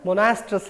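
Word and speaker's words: monoestrous: in a particular season we can simply call it monoastrus animal sometime it is also called as monastrous animal o is silent in that case so let's go back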